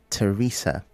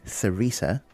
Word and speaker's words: Theresa: The word is Teresa. You said Theresa because of the TH, but the TH is pronounced as T, Teresa.